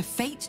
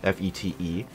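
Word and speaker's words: fête: I know the term, F-E-T-E, but I kind of assumed it was like, you know, fete. Like in French or something.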